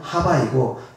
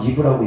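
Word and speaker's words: חוה: 히브리어로 하와는 하바이고 영어식 발음으로는 이브입니다. 그래서 때때로는 하와라고도 표현하고 우리가 이브라고도 표현합니다. 아담과 이브라고 얘기합니다. 그래서 그 이브는 영어식 발음이고 하와가 히브리식 발음에 가깝습니다.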